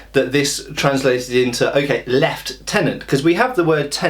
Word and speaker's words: lieutenant: the French say Lieutenant so the American say lieutenant in um Britain it's lost in The Mists of time as far as I can tell based on what I can find online and books I've read and so on and so forth um and we don't really know exactly why in Britain we say left tenant now I understand that